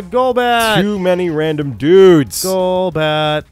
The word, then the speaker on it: Golbat: If you guys pronounce it Golbat, then you should admit that it's GIF. That's what I think about that. Uh-huh. If you want it to be GIF, then it's Jolbat. All right, gone.